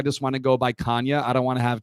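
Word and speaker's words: Canha: on the cob with Canna's face on it, and it just says Canna corn. I was like, this ruins it because that's not how you say it. So then Chris came up with Kanya Feel the Love Tonight.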